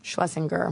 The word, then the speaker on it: Schlesinger: Is it Schlesinger or Schlesinger? Schlesinger. Okay, I've actually been saying it wrong.